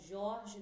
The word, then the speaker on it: George: falar com o Jorge do Lago Pinheiro. O Jorge se escreve George, ele é médico do sono.